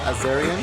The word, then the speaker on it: Azarian: Cosplay, and she's also on Twitter at Tara Azarian. Is that your last name? Yes, awesome. You pronounced it correctly.